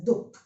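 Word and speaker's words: दुख: But when we pronounce it in Hindi, we remove these two dots and we use it as dukh.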